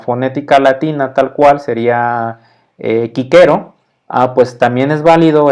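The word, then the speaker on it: Cicero: que con la fonética latina tal cual sería kicker o a pues también es válido esta excepción desde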